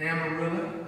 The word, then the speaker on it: Amarillo: And I spent a lot of time in West Texas, the Panhandle, not in Lubbock and Amarillo, as I was told it's pronounced, but Dalhart and Dimmitt and Texline and Buffalo Springs.